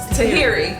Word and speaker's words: Tahiry: saying it wrong and tahari and tahrir tahiri tahiri thank you so what they what we showed